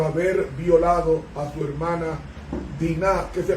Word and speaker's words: Diná: por venganza por haber violado a su hermana Diná, que se pronuncia así en hebreo, pero castellanizándolo decimos Dina.